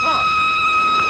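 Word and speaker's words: Froy: My name's Troy. You said Troy? No, not even D. Troy. Sorry, I can't hear. It rhymes with joy.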